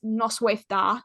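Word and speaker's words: Noswaith dda: And then good evening is Noswaith da, which is Noswaith. And da is spelt with two D's, so it's DDA. No sweat da?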